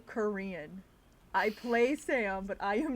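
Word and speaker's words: 싸움: i mispronounce this word it sounds like sam so i mean do it like a church song not sam um jack jack it's the long s did we kill did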